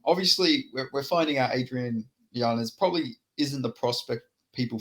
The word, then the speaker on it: Yanez: Yeah, Yanez.